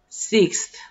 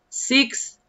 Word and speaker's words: sixth: So, fourth, fifth, fifth, sixth, sixth. Sí, puede. Pronuncie la X y después la TH.